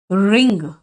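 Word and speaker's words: wring: निचोड़ने का इंग्लिश हुआ रिंग। डब्ल्यू साइलेंट है।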